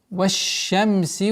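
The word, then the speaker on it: والشمس: Ваш-шамси ва духаха. Так как шин у нас является солнечным звуком, с согласовки вау переходим на шин и применяем свойство тафаши. Ваш-шамси, не ваш-шамси, ваш-шамси. Полноценное произношение удвоения шина.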